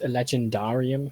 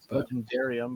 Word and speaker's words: legendarium: by the way um is legendar how you pronounce it I I don't think so legendarium but it's could be difference between British and non-british I suppose no I think even the British pronounce it legendari and these people aren't